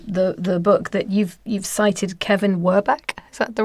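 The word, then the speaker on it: Kevin Werbach: And I'm just going to read out something else from the book that you've cited, Kevin Werbeck.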